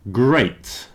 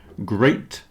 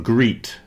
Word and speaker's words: great: mud here we have great which rhymes with plate great plate so great is not greet okay it's great here's